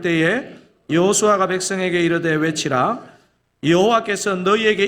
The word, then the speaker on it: 여호수아: 여호수아 있니다 여호수아 아 여호수아가 어떤 사람인지를 좀 먼저 알아볼 필요가 있는데요 여러분 여호수아는 이름의 의미가 뭐죠 여호와는 구원이시다 이게 제 예수 예슈아 이렇게 발음되는데 한국식으로 하면 여호수아 발음합니다 성경에 여호수아에 관한 기록이